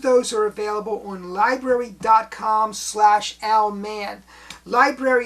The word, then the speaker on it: Lybrary: Library is spelled Lybrary.